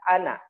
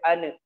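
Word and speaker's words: أنا: Nah, bacanya ingat ana, tidak boleh ane, ana'a, gitu ya.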